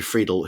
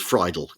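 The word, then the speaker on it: Friedel: They sign the surrender all the way from from Fredberg down to Major Fredel, who Monty calls Fidel, pronounces his name wrong.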